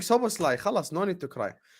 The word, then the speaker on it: Szoboszlai: How do you keep saying it wrong? Szoboszlai. It's not. There's no L at the start of his name. Szoboszlai. It's Szoboszlai. Szoboszlai.